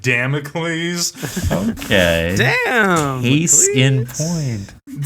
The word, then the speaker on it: Damocles: are you familiar with the sword of democles I believe it's pronounced Damocles okay damn he's in